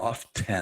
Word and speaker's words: often: Correct, which we wear often. Often. Yes. Often. You know, the T is silent like the P in swimming.